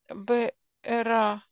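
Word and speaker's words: בארה: Мишам Бэра. Бэра. Бэра, да. Бэра, да. Бэра – это слово с направлением, получается. Да, то есть в направлении к БР колодцу, да, дальше. Да, поэтому ударение не смещается.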